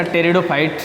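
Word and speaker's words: pteridophytes: तीसरा ऑप्शन है इसका टेरिडोफाइट्स मैं इसमें पी साइलेंट रहेगा टेस्टर फाइट है क्योंकि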